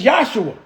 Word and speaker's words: Yahshua: But what I do know is the proper pronunciation of the word Jesus is Yahshua.